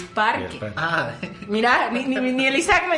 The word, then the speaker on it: parque: Ya ni me acuerdo cómo se dice, pero es súper raro porque dices paque. Vamos al paque. Y es parque.